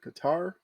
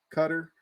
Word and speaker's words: Qatar: cup to once again it's either Qatar cutter you're probably here pronounced both those ways there in the World